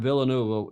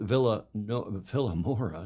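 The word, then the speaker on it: Vilanova: where they are racing in villain NOA Villa no vura not villain NOA that's a that's around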